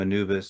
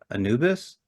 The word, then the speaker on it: Anubis: And she's trying to pronounce his name, Anubi. And I was like, Anubis? And she's like, yes, he's here.